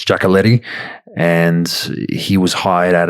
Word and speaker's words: Giacoletti: the name of ray giacoletti jacqueletti however different people pronounce it but um generally it's jackaletti and he was hired